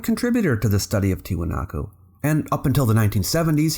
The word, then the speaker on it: Tiwanaku: He studied the Aymará language and showed that the correct pronunciation was ‘Tiwanaku,’ not ‘Tiahuanaco’, as had been thought since the sixteenth century.